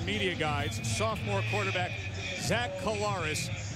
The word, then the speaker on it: Collaros: guides, sophomore quarterback Zach Collaros. And his mom and dad want everyone to know that that's how you pronounce the last name, Collaros.